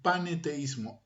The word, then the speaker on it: panenteísmo: Quiero eh expresar bien esta palabra paneteísta para diferenciarla de otra cosmovisión que se pronuncia casi casi igual. Eh, y tiene ciertos parecidos que es el panteísmo y no es el panteísmo el paneteísmo, aunque la diferencia es muy sutil.